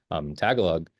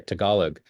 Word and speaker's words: Tagalog: Victor here actually can speak Tagalog, or sorry, Tagalog. And we did I didn't ask it for a phonetic pronunciation of that, obviously.